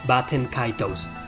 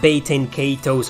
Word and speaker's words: Baten Kaitos: bats and kaidos and they're pronounced baten kaitos not baiting catos or anything according to jrpg my